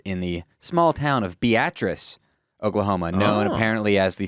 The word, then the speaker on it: Beatrice: By the way, the town is called Beatrice. It's not Beatrice? It's spelled Beatrice, but they all pronounce it Beatrice.